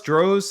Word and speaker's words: Droz: entire life it's dro the Z is silent so Dro so all